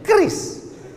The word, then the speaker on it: QRIS: Cara bacanya gimana sebetulnya? Kris. Q-nya quick. Quick artinya cepat. R-nya response. Kris. Quick response code.